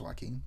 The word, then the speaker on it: Joaquin: cause it probably isn't for the reason I think it is, because his name starts with a J but it's pronounced Joaquin.